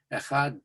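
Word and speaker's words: אחד: had the experience of pronouncing that last echad with a pronounced duh at the end, echad da, that you want to be sure that you are saying that daled forcefully.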